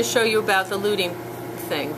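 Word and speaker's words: luting: show you about the looting thing the looting is another is actually the professional way of saying that you're smooching it together and loot is spelled lut ing and the word no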